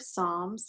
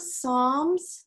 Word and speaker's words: Psalms: week the Book of Psalms the named songs it starts with the letter P but that P is silent that's why we call